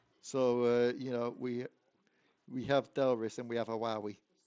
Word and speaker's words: Delris: Delris, that's how you say it.